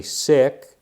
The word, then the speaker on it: Sikh: If you're, when I say sick, I've been told that that's actually the proper pronunciation for Sikh.